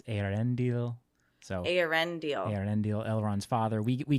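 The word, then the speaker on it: Eärendil: I've been saying Arendil, but it's Arendil.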